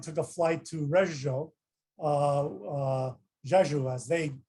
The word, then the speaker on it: Rzeszów: And when we landed in Warsaw and then took a flight to Rzeszów, Rzeszów, as they pronounce it, which is right across in the Polish border.